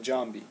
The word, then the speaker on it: Giambi: you know this is why Jason Giambi was pronounced Jason Jambi Jambi that's how he wanted to pronounce so